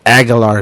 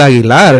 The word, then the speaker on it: Aguilar: And I'm like, well, that's not her name. It's Abigail Aguilar. Yeah. Like you're saying it wrong, So that's why it sounds. That's why it sounds weird. Yeah, like make that tongue grow a little bit.